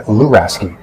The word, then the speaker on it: Luraschi: These days I'm going by Luraschi. It's difficult. It's an Italian last name, so the SCHI is actually pronounced like a key.